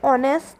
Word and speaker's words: honest: use an egg, an honest boy. In this word honest, H is silent and it is giving the sound of O, and O is a vowel.